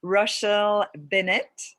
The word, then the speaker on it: Rochelle Bennett: And I'm today with the incredible and amazing and gorgeous Rochelle Bennett. Am I pronouncing your name the right Yeah, way?